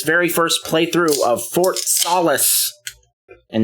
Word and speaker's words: Solis: first playthrough of Fort solace and it is pronounced Solace apparently not Solas last time we played